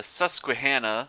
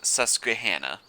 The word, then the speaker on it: Susquehanna: and he says that it is pronounced susquehanna so i'm going to try my best to pronounce it that way but if i say susquehanna i mean susquehanna and supposedly you're supposed to really accent that qui sound susquehanna anyway a few changes since